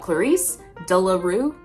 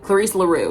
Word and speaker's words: Clarisse La Rue: Clarice Delaru. Clarice Daru. Delaroo. Laru. Wait. Clarice Laru.